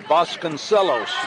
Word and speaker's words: Vasconcelos: And I've always got to double check my pronunciation on this. Vasconcelos. There you go. Yes, you got it.